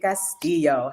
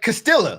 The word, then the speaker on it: Castillo: pronounced your name Caso she pronounced it perfectly like Perfection man you got that Double L she got that EO real real well like I call him like Castilla like you I call